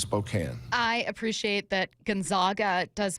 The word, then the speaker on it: Spokane: our neighbors it's and it's not not Spokane and it's not Gonzaga it's Gonzaga and it's Spokane I appreciate that Gonzaga